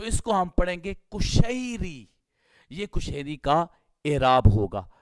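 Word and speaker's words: قشیری: سے پہلے سمجھیں گے۔ کشیری، قاف، قاف جس کو ہم قاف کینچی والا کہتے ہیں، قاف 2 نقطوں والا، اس کے اوپر پیش آئے گی، ضمہ آئے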